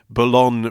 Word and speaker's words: Boulogne: Bush is because it's from the British pronunciation, the mistaken pronunciation of Boulogne Bush. There's a French port in Bologna where Henry VIII was victorious in battle. What? So it's a tribute to Henry VIII, but people couldn't say Boulogne.